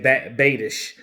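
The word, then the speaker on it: Biadasz: the fourth technically Tyler you pronounce his last name Bay Tish so so Tyler Bay dish he's gonna wear number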